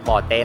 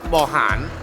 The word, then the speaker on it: Boten: " Boten," and on the other side, Thais call it Bohan. This place is called Boten, but the Chinese pronounce it as Mohan.